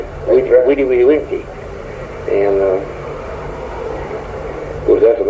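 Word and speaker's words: vidi, vici: They pronounced the V with a W. Vide, vice.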